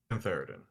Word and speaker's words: cantharidin: that Cantharidin, causes- sorry, that's my bad. Cantharidin. There you go. Yeah, that sounds more correct.